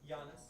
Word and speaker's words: Giannis: Giannis. Oh, just Giannis? The G is silent.